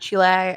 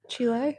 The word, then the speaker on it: Chile: been to Argentina and Chile which I always say wrong I say it right Chile I'm just trying yeah it's not chil some people say that then you sound stupid but it's like I